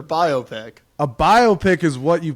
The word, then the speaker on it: biopic: few different biopics also you're putting that emphasis on on the wrong syllable man it's biopic what no it's biopic I've NE I've never heard I've never heard that in my life yeah it's biopic biopic biopic it's not biography biography picture biopic a biopic is